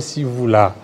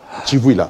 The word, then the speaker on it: Chivouila: Merci beaucoup, Monsieur Sivouila. Voilà. Chivouila. Voilà, Chivouila. Voilà. Chivouila ou Sivouila? Chivouila, parce que les CI, l'Académie Louba, prononce Sachi, les TSHI a été déjà transformé pour les choses.